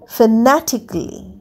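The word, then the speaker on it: fanatically: Next কাম এফ এন এটি আই সি এল এল ওয়াই ফেনাটিকলি। ফেনাটিকলির লাস্টের এটা কিন্তু উচ্চারণ হচ্ছে না।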